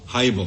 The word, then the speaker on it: Hiibel: Dolan, am I pronouncing your client's name correctly? Your Honor, it's HIIBEL. HIIBEL, very well.